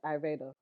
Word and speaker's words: Ayurveda: So there was these girls talking about ayurveda. Okay. So Indian practices it's basically holistic medicine. That's how you say the word? Yeah, ayurveda. What were you saying? I've been saying ayurvedic. Girl, Ayurveda.